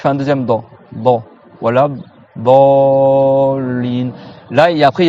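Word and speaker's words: الضالين: Walad dallin. Si tu veux faire dans les règles du tajwid, il faut que tu prononces 6 temps. Walad dallin.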